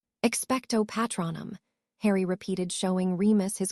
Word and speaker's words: Expecto Patronum: The incantation is Expecto Patronum." "Expecto Patronum," Harry repeated, showing Remus his correct pronunciation of the spell before turning back to the trunk.